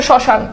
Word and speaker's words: শ্মশান: চন্দ্রবিন্দু আসছে এরপর দেখো শ্মশান এই যে দেখো ম ফালা শুরুতে আছে তো ম ফালা যেহেতু শুরুতে আছে এবং দেখো শ্মশানে কিন্তু ম ফালার উচ্চারণ নাই আছে শ্মশান ম ফলার কোন উচ্চারণ আছে নাই এইজন্য দেখো এই যে